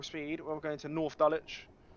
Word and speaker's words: Dulwich: we're going to North dulwich you don't pronounce a w in dulwich which is don't say doll witch it's dulwich and East Dallas is